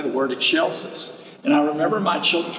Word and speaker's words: excelsis: to say the word excelsis and i remember my children's choir director sharon knapp taught us the very simple way and she just said say eggshell and then she said